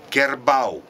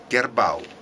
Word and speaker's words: kerbau: it's heard and in malay the buffalo is pronounced like kerbau kerbau and in russian there is a word karova